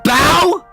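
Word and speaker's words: bough: It's pronounced bow.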